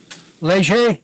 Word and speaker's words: Leger: Leger, or Lager, how do you say it? Leger, yes.